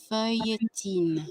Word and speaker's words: feuilletine: Feuilletine.